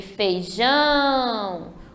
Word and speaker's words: feijão: E o feijão vai ser o ão, o jão, desculpa, o jão é a sílaba forte, que é a última.